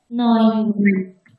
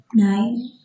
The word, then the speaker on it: neun: If you make a mistake here in pronunciation, it sounds like nine, which is no.